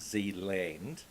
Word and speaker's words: Zealand: Kashmir here, and New Zealand, I think we're meant to pronounce it Zeeland, Right. which is sea land from a Dutch province, which is surrounded by the sea.